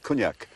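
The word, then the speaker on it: Quinag: about queen egg well i've always called it quinac you think it's locally it's pronounced cognac cognac yes how should you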